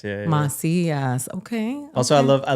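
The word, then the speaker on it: Macías: So, it's mas mas. But you know, we were talking about that because we can't put the accents, the anes in our stuff and so people don't don't know the the pronunciation of our name.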